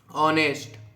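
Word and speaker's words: honest: ठीक है जैसे हम लोग बोलते हैं ना ऑनेस्ट ऑनेस्ट तो इसको डी ऑनेस्ट भी बोल सकते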